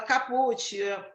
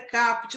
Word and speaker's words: caput: Tem muita gente que fala caput, a pronúncia correta é caput.